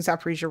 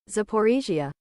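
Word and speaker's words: Zaporizhzhia: I I don't know how to pron I know I'm pronouncing Zapriia wrong because I'm pronouncing it the way that Dylan pronounces it and I know that I think Dylan pronounces it the Russian way because that Dylan gets names wrong.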